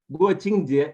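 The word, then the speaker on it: 国庆节: The first Jieru we are going to have is Guoqingjie. Guoqingjie Shemaisa. Guoqingjie, it's National Day.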